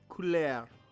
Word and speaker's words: Couleur: Couleur. It's couleur. So it's color.